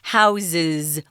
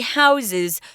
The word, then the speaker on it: houses: little pronunciation thing too we say house with an F sound but when we make it plural guys it's a Z sound houses or a verb yeah he houses 24 cats okay so be a